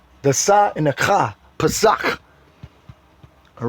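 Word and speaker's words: פסח: H6453, Pesach. That's how you would pronounce it in the Hebrew. Pesach.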